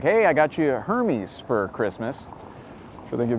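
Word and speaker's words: Hermès: And it's pronounced Hermes, by the way, okay? They make like fancy accessories like luxury scarves and ties. Hermes, okay? Not Hermes.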